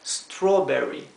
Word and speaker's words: strawberry: inglés siempre o bien Esto se pronuncia o como la o de español por eso esto se pronuncia strawberry melón se pronuncia melon